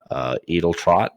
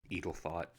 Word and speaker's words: Edeltrot: house my apologies lady edeltrot and he does mispronounce it by the way eagle thought and i i